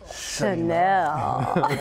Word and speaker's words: Chanel: But it's pronounced Chanel.